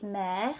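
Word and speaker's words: mère: sea so la mer we've got the word for mother which is mare which is spelt differently which is also a la word but it's spelt like this with an e graph mare la mer is the word for mother lame is the word for c sound the same you have to pick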